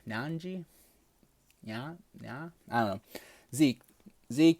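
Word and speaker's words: Nnaji: It's two N's, so its last name is spelled Naji. So Nanji.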